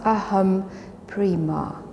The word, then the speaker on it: Aham Prema: It's pronounced Aham Prema. Aham Prema, 4 syllables.